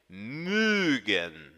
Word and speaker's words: mögen: que eu estou falando, imagine uma vaca mugindo. A vaquinha faz mü, e é exatamente este o som que esta sílaba tem. Mögen, mögen.